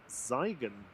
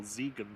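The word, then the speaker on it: Siegen: Learjet 45 coming in from Ziegen, or Ziegen, sorry. Yeah, you always pronounce the second vowel.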